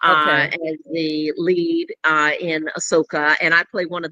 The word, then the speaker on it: Ahsoka: how we pronounce it, Ahsoka.